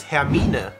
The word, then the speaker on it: Hermine: So in German it's Hermine. Hermine.